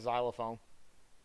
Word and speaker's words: xylophone: sound it's like xylophone it's spelled with an X but you don't pronounce the X that's the reason why everybody says xylophone so I found out